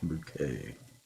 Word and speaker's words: Bucket: She always insisted on it being pronounced bouquet. Or something like that.